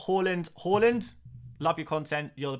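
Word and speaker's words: Haaland: do you call Halland Halland love your content you're the best bro um glad you asked I'm not um it's basically I try new the pronunciation A little bit closer to the Norwegian pronunciation I do try and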